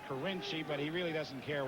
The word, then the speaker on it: Carinci: names you've got kiny is it kiny or carinci he pronounces it carinci but he really doesn't